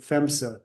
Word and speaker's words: PHMSA: This is potential meeting dates for I think that she pronounced it FEMSA, the PHMSA's, the company